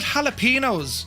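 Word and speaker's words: jalapeños: They put jalapenos.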